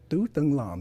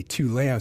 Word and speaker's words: Tu Tung Lam: And my name is pronounced Tu Tung Lam in Vietnamese, right? But I say Tu Lam, so you guys don't mess up my Vietnamese name.